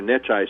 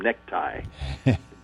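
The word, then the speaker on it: Necciai: Of course, he couldn't pronounce his name. He called him Necktie.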